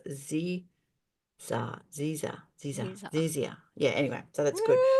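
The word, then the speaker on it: zyzzyva: Pronounced Zizia.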